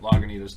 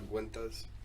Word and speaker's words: Lagunitas: So there are two different stouts that Lagunitas does, I've been saying it wrong this whole time. I thought it was the Guintas.